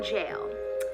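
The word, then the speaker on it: gaol: the old gee long jail it could be pronounced why do they spell jail like that g-a-o-l like what what is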